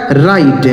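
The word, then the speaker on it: write: यहां जो डब्ल्यू लिखा गया है ना, यह साइलेंट है। मतलब इसे नहीं पढ़ेंगे। इसे क्या पढ़ा जाएगा? राइट।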